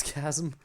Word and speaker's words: chasm: now just pure hype i say chasm but it's chasm ah oh well oh well guess i won't you know what i shouldn't worry about how i pronounce it i feel like everyone understands what i say anyway so what does it matter if i pronounce it with a c with a of a k sound or not i don't